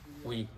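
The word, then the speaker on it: و: শুনলাম না আচ্ছা ওয়ার উচ্চারণ হলো কি ওয়া উচ্চারণটা হলো ওয়া হইলো ওয়া ওয়া হইলো উই উই উই ঠোঁট লাগবে না লাগার কাছাকাছি যাবে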